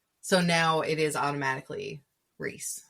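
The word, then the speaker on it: Rhys: It's giving Reese all over again. Yeah. Yeah. Rice. Reys. Not finding out his name is pronounced Ree until the last book when Rice Riceand is in my mind.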